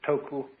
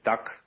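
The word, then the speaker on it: 德: The Japanese pronounce it toku, the Cantonese duck, and the northern Mandarins approximately death.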